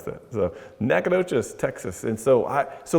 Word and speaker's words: Nacogdoches: uh and that was in we call it nacogdoches just say knack for short that's how we pronounce that so nacogdoches texas and so i so later on kurt